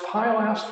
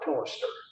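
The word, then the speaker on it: pilaster: These uh it's just pronounced pyaster or pillister.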